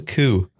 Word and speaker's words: coup: It's called a coup. Why is that? And it's spelled C-O-U-P. It's French, Victor.